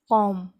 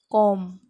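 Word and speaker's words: comb: कॉम, कॉम, कॉम, कंघी जिससे हम बाल खरचते हैं उसको बोलते हैं कॉम. तो यहाँ पे स्पेलिंग में बी दिखाई दे रहा है, लेकिन हमको वो साउंड बी का हमको लेना नहीं है जब हम उच्चारण कर रहे हैं.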